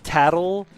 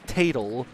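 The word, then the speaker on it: Tatl: who follows you around, I thought her name was Tat for the longest time. I thought you pronounced with a long a so I didn't get the joke. And then someone pointed out one day, no, her name is Tatt cuz their names are Tatt and Tail.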